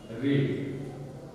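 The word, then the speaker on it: read: वी हैड रीड, रीड का रीड रेड रेड पढ़ाता है रीड रेड रेड, लेकिन spelling R ई ए डी ही होता है, इस चीज को ध्यान रखिएगा।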